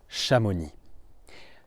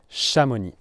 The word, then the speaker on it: Chamonix: And this place is called Shamoni. Shamoni. So let me unpack the pronunciation of the word for you.